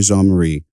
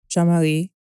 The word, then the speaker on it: Jean-Marie: So Jean-Marie, most of the time growing up, I pronounced it Jean Marie. I think actually to this day, I still pronounce it Jean Marie. I just think of the time period, it was just easier to pronounce it in the sort of Americanized version of it.